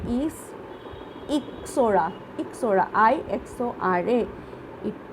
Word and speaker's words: Ixora: Ixora, IXORA. It pronounced like Ixora.